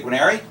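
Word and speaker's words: Guarnieri: how do you say, Guinary? Jack Canary. Canary, like canary but with a G.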